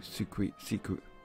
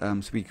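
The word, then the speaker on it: Suicune: I just need to be online 32 hours more to be able to catch Entei Raikou Siku. Even though I know it's pronounced Suiku and I can't pronounce it.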